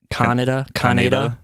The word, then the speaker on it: Kaneda: Did they pronounce it like Canada in the dub? No, it's like Kaneda.